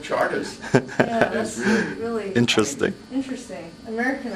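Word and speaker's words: Chartres: r t r e they pronounce it Charters really really interesting interesting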